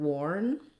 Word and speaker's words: warn: So the word warn, I'll write that here. I'm going to warn someone of a war is the same as worn, the clothes were very worn.